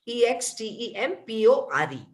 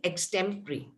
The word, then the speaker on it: extempore: called yes that that is x temporary okay e x t e m p o r e so something like my second joke yes so some people pronounce it as extempore but the correct pronunciation is extempory we have ex temporary is very much you